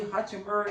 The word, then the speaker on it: Hachimura: Keep, how you say his name, Roy Hachimura?